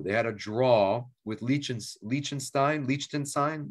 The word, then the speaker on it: Liechtenstein: They had a draw with Liechtenstein. Am I saying it right? How do you say it? Nope, Liechtenstein. Liechtenstein. Thank you, Rich.